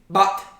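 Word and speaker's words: בת: Bot. Bat, right? If you were to spell it out in English, B-A-T-H.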